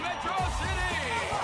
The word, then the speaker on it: Metro City: This is a day you and Metrocity shall not soon forget. It's pronounced Metro City.